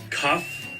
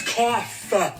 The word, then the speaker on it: cough: means this word would be cuff no it's cough you know off that's